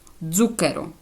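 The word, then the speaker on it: zucchero: першому прикладі я зробила коли дзта стоїть на початку слова вона тоді читається як звук ДЗ дзукеро цукор Бачите коли вона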